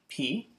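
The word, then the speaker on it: π: Just like math, they call pi, like we think of pi. We call that just P.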